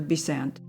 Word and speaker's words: Besant: the family Connection by accenting his name on the second syllable as she accents hers on the first it is a curious